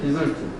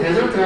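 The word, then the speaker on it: desert: 디절트. 네, 발음이 데절트가 아니라 디절트지. 디절티드.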